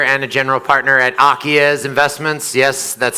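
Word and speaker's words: Acies: I'm a co-founder and a general partner at Akiez Investments.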